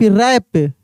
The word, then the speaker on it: wrap: WRAP, रैप, रैप, ठीक है ना, रैप।